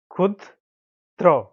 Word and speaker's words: ক্ষুদ্র: বানামটি বন্ধুরা আমরা প্রথমে লিখে নেই রসুকার দরফলা ক্ষুদ্র ক্ষুদ্র ক্ষুদ্র আপনি এভাবে উচ্চারণ করবেন বন্ধুরা ক্ষুদ র ক্ষুদ্র ক্ষুদ্র ক্ষুদ্র